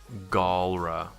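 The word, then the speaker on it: Galra: it say it say what they are all Gaul rah goal right okay you have the gall to mispronounce their name okay go uh I'm gonna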